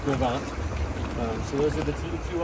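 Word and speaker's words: Gros Ventre: Grovance, if you see the sign probably up on the road, it looks like Gros Ventura. But it's pronounced Grovance.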